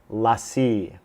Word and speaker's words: LaCie: pronounced it wrong the whole time it's actually pronounced lassie it is a rugged hard drive 500 gigabyte